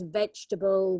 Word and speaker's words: vegetable: it's not that yeah it's the second E which is silent vegetable yes you're right Pam like the baguette part so it's vegetable we don't pronounce the e and this is another